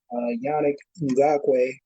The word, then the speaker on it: Yannick Ngakoue: Those are personnel issues that do need to be solved because Yannick Ngakoue, right?